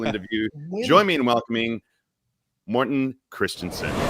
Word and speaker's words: Mortenn: magic live and then he mispronounces my name seven times as Mortin or something Martin I'm like what dude we met each other and it's Morton well in my defense